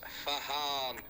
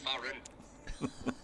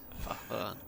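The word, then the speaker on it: Farhan: It's Fahan, not Faren. Fahan.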